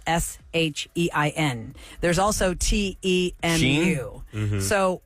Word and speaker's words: Shein: call it Sheen, and two of our callers called it Sheen when they got misdelivered Sheen. Okay. But according to this, we are all saying it wrong. It is officially, and I think we mentioned it once before, but it didn't stick. Okay. It's Shein. Yeah, I've been Shein? saying that since the beginning I've been because saying it too, yeah. it's like Shein. she's in with the fashion.